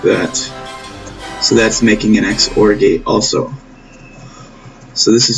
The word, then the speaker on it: XOR: which i'll label here this is pronounced xor not zor like some people say that is wrong x stands for exclusive